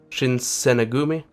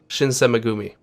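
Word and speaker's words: Shinsengumi: Shinsenegumi? Shinsemegumi. Okay, that's how you pronounce it.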